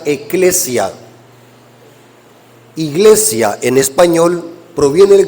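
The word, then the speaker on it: ἐκκλησία: en la Biblia es una palabra griega que se pronuncia eclesia iglesia en español proviene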